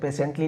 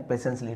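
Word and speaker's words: patiently: The sage listen पेशेंसली पेशेंसली पेशेंटली नहीं बोलेंगे ना पेशेंसली टी साइलेंट है।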